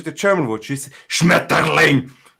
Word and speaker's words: Schmetterling: Then you go to the German word, which is Schmetterling. But you also can say like Schmetterling, so as in soften the T and actually just make it a flow.